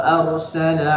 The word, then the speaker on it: أرسل: Wa arsala 'alaihim tayran ababil. وأرسل عليهم طيرا أبابيل Baik. Arsala itu roknya tebal, tipis atau boleh dua-duanya? Tebal ya. Karena rok sukun yang didahului oleh harokat fathah. Jadi itu tebal.